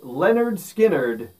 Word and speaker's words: Lynyrd Skynyrd: their very first album pronounced leonard skynyrd which was released in 1973.